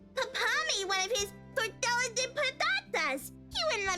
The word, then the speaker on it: tortilla: L's are supposed to sound like a Y. So it's tortilla de patatas. tortilla.